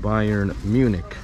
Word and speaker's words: Bayern Munich: of the non-european followers this is pronounced bayern munich not munchen and it's brand new